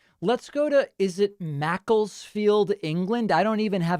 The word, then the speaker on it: Macclesfield: you hear me yeah how how is it pronounced what's the name of the place you're in yeah it's it's macclesfield in england here oh okay and what's your